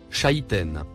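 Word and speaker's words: شيطان: le comportement du malfaisant le troisième mot en surbrillance verte se prononce Chaiten nous lisons sur le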